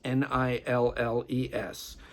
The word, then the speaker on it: Nilles: Anakah Niles, double L on Niles, Nilles. She's played with Jeff Beck. She has her own band called Neville, that's spelled Nevell, double L again.